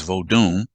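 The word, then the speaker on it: Vodun: of what's called Voodoo even though it should be pronounced as vodum you know it has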